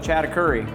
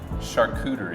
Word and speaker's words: charcuterie: know one thing that I'm not good at pronouncing this kind of thing. Yeah. I always call it a chattacurry. Yeah. No. Chattacurry. Chattacurry, but you tell me, how do you say that again? Charcuterie.